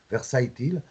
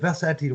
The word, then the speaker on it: Versatile: finally for this album you call it uh versailles uh i suppose it's a good pronunciation for french you know but versatile what do you want uh